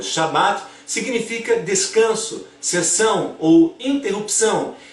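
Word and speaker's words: שבת: Agora, analisando o Shabat judeu da Torá, no judaísmo o sábado, em hebraico pronunciado como Shabat, significa descanso, cessão ou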